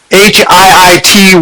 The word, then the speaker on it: HIIT: how they're recovering using HIIT programs. Okay. And that's how they pronounce it, HIIT. High intensity interval training.